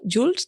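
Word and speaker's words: Joolz: a descubrir más sobre Jules. Se escribe J O o O L Z.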